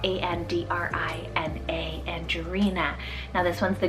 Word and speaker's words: Andrina: Then I have Andrina, spelled A-N-D-R-I-N-A, Andrina.